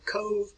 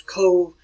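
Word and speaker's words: Cobh: Colman's Cathedral is present in Cove. That's the way you pronounce this town here. It's pronounced as Cove.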